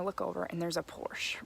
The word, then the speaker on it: Porsche: would see it as Porsche because you pronounce the e at the end this was like mind-blowing